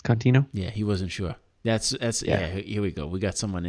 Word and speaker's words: Contino: Well, he did pronounce it right. He said John Contino, right? It's Contino.